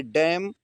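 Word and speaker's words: damn: अगली मीनिंग है डैम। इसको एम के बाद एन है तो एन नहीं पढ़ेंगे।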